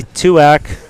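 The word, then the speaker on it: Tuach: let's hear it so so uh Chelsea Chelsea twak there we go just figured out how to pronounce it so uh yeah so in red Chelsea tuak holding down the first spot with two and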